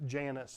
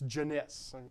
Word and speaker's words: Jeunesse: of antoine jeunesse now i used to pronounce it janus until somebody went look okay sure if you're not that smart of a guy this is french it's jeunesse okay it's jeunesse so antoine